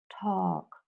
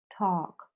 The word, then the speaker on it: talk: in work on top you don't pronounce the l right and the sound is this one it's like oh talk talk talk like when you